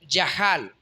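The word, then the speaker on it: יחל: Por ejemplo, si nos vamos al Antiguo Testamento, hay palabras como yahal. Se escribe en castellano yachal.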